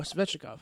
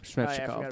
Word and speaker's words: Svechnikov: Fucking, how do you pronounce it? Slavin? No, the Russian kid. Oh, Svechnikov. Svechnikov, there you go.